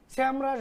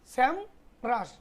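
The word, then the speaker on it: SEMrush: তো সবথেকে জনপ্রিয় হচ্ছে এস এম ই রাস স্যাম রাস বলে উচ্চারণ স্যাম রাস তো এইটা একটা জিমেইল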